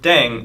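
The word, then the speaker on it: 땡: playing with language now the pronunciation of Deng is similar to thing which is the slang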